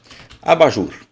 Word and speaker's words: abajur: Abajur. Não, vamos pôr em parênteses. Vamos separar as sílabas de abajur agora, tá? Ó, a, ba, jur. Abajur. Jur. Essa é a mais forte.